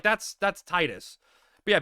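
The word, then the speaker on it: Tidus: So, I was like, that's that's Titus. But yeah, people say Tetus and I'm like I don't get it because like that's I literally, you know, heard the pronunciation, right?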